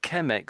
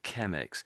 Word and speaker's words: Chemex: So it but ChemX sounds like chemicals, doesn't it? So it's not doesn't like an ideal brand name, does it? So there we go. To my ChemX.